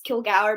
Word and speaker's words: Kilgour: My last name is incredibly hard to say. It's Kilgour. Most people go Kilgour, or, any other crazy stuff.